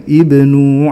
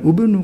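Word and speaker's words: ابنوا: munasabah aslinya Ibni Gu Jadi kita bacanya Ya Ibnu alaihim bunyana bukan ubnu karena aslinya Ibni Kenapa kok NU karena ada waunya begitu pula tummaqdu iqdu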